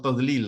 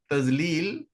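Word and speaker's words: تضليل: You can say tazlil or tadlil, right? But you're pronouncing it as tazlil because instead of saying duad, you're saying zuad.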